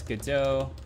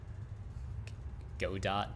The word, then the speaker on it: Godot: scene is always nice go dot absolutely not calling a godot is wrong but i i can understand why you would call it that it's a french term just like when you